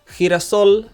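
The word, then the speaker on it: girasol: accent mark means sunflower hirasol ends with the letter L which is not a vowel and it isn't a letter N or the letter s either so we must stress the last syllable we must stress the soul part and we do stress the soul part Hira Sol we don't need to add an accent mark for hirasol now I'll show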